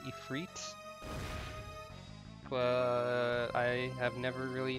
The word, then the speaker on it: Ifrit: Also, I guess technically the correct way to pronounce this boss's name is Ifrit.